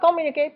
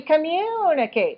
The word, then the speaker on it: communicate: which is not right why is not call me okay because the first syllable is too long it's got to be communicate and it's not communicate